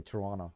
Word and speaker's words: Toronto: pronounce t in the SEC in the second syllable you say Toronto toron Toronto yeah them who cares I I say Toronto okay I'm not from Toronto you're not from